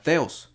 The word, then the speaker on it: θεός: a la strong 23 y 16 que se pronuncia teos Okay que dice una deidad especialmente la divinidad